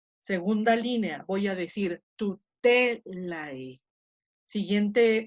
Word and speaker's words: tutelae: estoy poniendo en rojo, solamente las que tienen el macrón, ahí va a caer el acento.